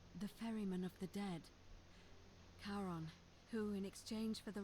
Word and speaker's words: Charon: It's just as you described it, only your pronunciation is a little off. The name you heard wasn't Karen. It was C-H-A-R. Ah! As in Charon, the ferryman of the dead. Charon, who, in exchange for the right coin, helps